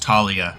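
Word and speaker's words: Thalia: on we'll make Gobles her name is pronounced Talia yeah um the H is silent I guess it just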